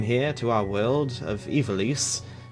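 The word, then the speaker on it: Ivalice: to our world of Ivelisse and yes that's actually how you pronounce it it's crazy somewhere from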